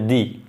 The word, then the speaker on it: the: টি-এস-ই এর উচ্চারণ হবে দি। আর যখন এটি কনসোনেন্ট, নাউন যদি কনসোনেন্ট দিয়ে শুরু হয় তখন কিন্তু এর উচ্চারণ হবে দা।